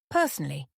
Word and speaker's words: personally: For example, personally, I feel this colour suits you better. Pronunciation notes. Personally has 4 syllables with stress on the first.